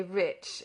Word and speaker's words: rich: podsnap in a condescending manner our English adverbs do not terminate in Hmong and we pronounce the CH as if there were a before it we say rich rich remarked the foreign gentleman do you find sir pursued mr.